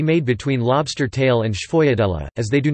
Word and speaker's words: sfogliatella: A sfogliatella, Italian pronunciation, sfogliatella, plural, sfogliatelle, sometimes called a lobster tail in English, is a shell-shaped filled Italian pastry native to Campania.